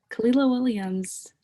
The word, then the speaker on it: Kahlila Williams: Okay, so you're Kahlila Williams. Am I pronouncing that right?